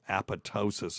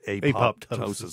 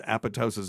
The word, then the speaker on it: apoptosis: of methadone wow it causes a thing called apotosis and people will pronounce it apoptosis that's incorrect it's incorrect according to you there's